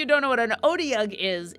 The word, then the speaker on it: Otyugh: a second and make sure that I'm actually pronouncing it correctly, because I'm pretty sure I'm not. Oh, okay. Let's see. Otyugh. Otyugh. There we go. Thank you, Marisha Ray. Otyugh.